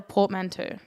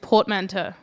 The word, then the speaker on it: portmanteau: So have you either of you ever heard of a portmanteau? No. You wrote the word down and I mispronounced it, so that should be a really good starting Can you point. say it again? Portmanteau.